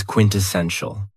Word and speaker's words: quintessential: Another very cool adjective is quintessential. And this word has 4 syllables. And the stress is on the third syllable.